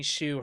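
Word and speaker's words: Hsu: Is it Shu?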